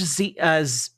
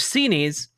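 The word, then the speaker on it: Xinis: Um, first two days ago we had Judge Zenesis, sorry I've been pronouncing it wrong, trying to correct my pronunciation. Judge Cenees uh ruled that essentially there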